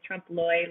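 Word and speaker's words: trompe l'oeil: with a french accent but in english we could just say trump lloyd like lawyer or loyal or lloyd it's hard to remember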